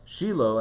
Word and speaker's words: Shiloh: um oh where is shiloh good yes shiloh or shiloh shiloh that's the way it's pronounced in hebrew mark is asking about